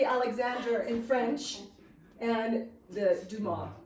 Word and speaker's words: Dumas: in French and the Duma we don't say the s a lot of his